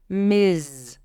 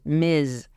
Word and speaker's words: Ms: for all adult women Miz even though it has an S it's pronounced with a zed sound Miz and Miz is used